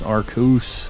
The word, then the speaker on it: Arceus: judge you but yeah Japanese it is not pronounced that way but to be honest that isn't even like the best it's arcuse that's true that is a fact definitely need